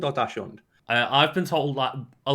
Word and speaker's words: Dachshund: like, yeah, I say like we've got a dachshund, and it's like that is Is that even bred to go down like Yeah, rabbit but holes and badger holes and stuff.